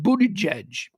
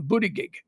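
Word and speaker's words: Buttigieg: take him seriously we we'd still be calling him booty gig we all know we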